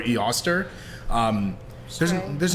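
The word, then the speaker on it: Eostre: ostara who is her her name is spelled e-o-s-t-r-e so I'm saying yoster or E Oster um there's there's not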